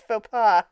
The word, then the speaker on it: faux pas: It's faux pas.